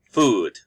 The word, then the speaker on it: food: have two o's but the pronunciation of food is with a long o food and the pronunciation